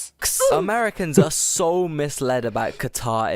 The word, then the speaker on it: Qatar: Americans are so misled about Qatar. It's insane. First of all, they pronounce it as cutter.